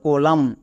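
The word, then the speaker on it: column: তার মানে N silent. তাহলে এর উচ্চারণ কি হল? কোলাম। সি ও এল ইউ এম এন কলাম।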